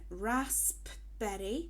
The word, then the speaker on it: raspberry: Also, in raspberry, remember the P. It can be easy to forget because you might not say it properly.